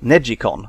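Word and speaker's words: NeGcon: made by Namco this one is called the neck con or neji con as it's apparently supposed to be pronounced no analog thumb sticks at all instead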